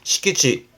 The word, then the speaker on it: 敷地: 그래서 발음이 시키치.